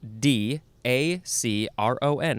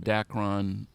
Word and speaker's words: Dacron: the next word is dakron or dakron capital d a c r o n how do you say it dacron it is